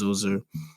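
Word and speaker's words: Djoser: the reign of pharaoh so i call him jose but apparently his name is pronounced zuzer and he also lived through the reigns of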